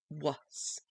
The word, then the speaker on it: was: But the A in the word was sounds like a U, so it becomes WS, was. And yet it's spelled as WAS. So whenever we teach the children the word was, we have to tell them that it's called a tricky word because it doesn't sound like how it is spelled.